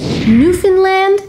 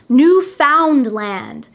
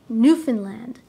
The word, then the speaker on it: Newfoundland: newfoundland be careful though many people who are not canadian try to pronounce this word as new found land we do not pronounce it that way we say newfoundland newfoundland the capital of